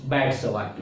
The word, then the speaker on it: Biot-Savart: You can pronounce it Biot-Savart or B.S.Savart, but normally the pronunciation is Biot-Savart law.